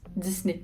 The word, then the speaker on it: Disney: disney mais en vieux 10 disney oui ça va 10 comme 10 mai comme le nez disney un j'ai vu le